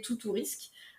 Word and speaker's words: Toutourisque: Ulule, Ulule, et vous tapez tout ou risque, comme ça se prononce.